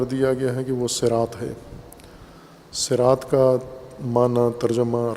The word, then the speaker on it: صراط: وسلم نے پسند فرمایا کہ صاد کے ساتھ صراط تلفظ کیا جائے لغت قریش میں، بائیں کہ دیگر اعراب اس کو دیگر سین کے ساتھ تلفظ کرتے ہیں۔ سین یا صاد دونوں